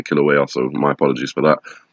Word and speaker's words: Kilauea: erupting killer wait Kilauea I'm not being saying it wrong for the last couple of videos kilowatt hey it's actually Kilauea so my apologies for